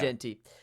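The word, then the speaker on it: Jeanty: Travis Hunter Ashton Jey is that how I say his name is it Genty I say Genty yeah Genty uh Dylan Gabriel and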